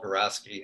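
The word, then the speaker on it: Geroski: an economist named Paul Garaski, and I'm never sure if I'm pronouncing it exactly right, but it's Groski.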